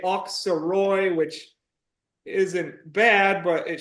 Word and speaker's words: Auxerrois: But it's been told to me by a French person that you should pronounce it kind of like oak, like an oak tree.